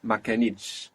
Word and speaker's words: ما كانتش: ما كانتش. And we have the accent on the end there because of the consonant cluster, because of the two consonant sounds, t, sh, on the last syllable, pulling that accent onto the last syllable.